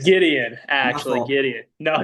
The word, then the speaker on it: Gideon: it's Gideon, My actually fault.